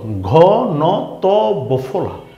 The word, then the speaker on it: ঘনত্ব: ত এর নিচে বফলা আসাতে ত এর ডাবল উচ্চারণ হয়েছে বীরত্ব এই শব্দটা কি ঘনত্ব ঘ ন ত বফলা ঘনত্ব রাইট তাইলে আমরা এই শব্দটা কি শিখলাম